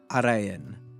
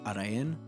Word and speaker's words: Araen: It's Araen. You need to roll the R in a French way. You know, like Belgians always like roll the R. So you need to pronounce it that way. It's Araen.